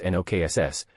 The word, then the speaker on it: Nox: The pronunciation is NKSss, and your wand movement is a wave, he demonstrated. I then, with the Lumos spell in effect, cast the counter-enchantment. Knox, and I saw the